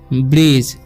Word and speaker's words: bridge: यहाँ पर BRIDGE है तो इसे पढ़ते हैं हम ब्रिज। यहाँ पर भी डी जो है साइलेंट है, ठीक है।